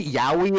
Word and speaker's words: Yowie: was like, "Are you sure that's how it's pronounced? It sounds like hentai." It's Yowie, guys.